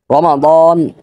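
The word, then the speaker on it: رمضان: বাংলায় শাবান বলে রমাদান আমি উচ্চারণটা আবারও বলতেছি রমাদান এটা হলো খাস উচ্চারণ মানে একেবারে বিশেষ উচ্চারণ আর একেবারে কোন রকম উচ্চারণ হলো রমাদান এই যে আপনারা রমাদান উচ্চারণ করবেন না আপনারাও সঠিক উচ্চারণ করবেন রমাদান এর বাংলা হলো রমজান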